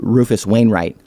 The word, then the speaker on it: Rufus Wainwright: We put Ben Folds and Tom Waits, or another one was Ben Folds and Rufus Wainwright.